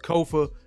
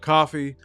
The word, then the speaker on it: Kofa: I am your host, Kofa, K-O-F-A, not coffee, not kufu, not Kofi, or any variation thereof. Kofa rhymes with sofa, easy to say, easy to spell.